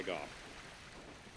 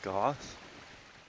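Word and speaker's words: Gough: go talk to hawkeye golf you remember who i'm talking about uh guy oh what the yep i found it okay yeah okay hawkeye goth goth well i guess it's actually pronounced go but um uh for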